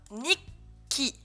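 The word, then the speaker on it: 日記: Nikki, Nikki, Nikki. Et vous faites une pause entre les deux cas.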